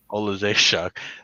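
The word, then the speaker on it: Oleksiejczuk: an arm like the last fight against Michael Olejetsky. How do you pronounce it? Olejechuk.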